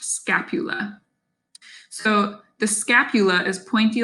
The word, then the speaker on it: scapula: is the scapula or the shoulder blade again pronounced scapula so the scapula is pointy like a blade